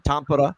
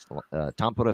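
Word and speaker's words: Tampere: show Florida Dallas this uh finished Showcase in Tampa that's how you say it by the way Tampa Finland there uh in Nokia Arena the star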